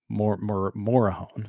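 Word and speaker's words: Morejón: makes a pitching change Adrien morone uh morone yeah that's how you pronounce it um he comes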